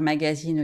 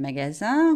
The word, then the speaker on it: magasin: anglophones se tromper mais parfois j'ai l'impression que c'est à cause de la prononciation ya une petite confusion parce que il n en anglais ça fait in et du coup les choses se mélangent dans la tête des étudiants et des étudiantes alors si c'est votre cas si vous savez que vous avez tendance à dire magazine au lieu de magasins vous pouvez penser qu'il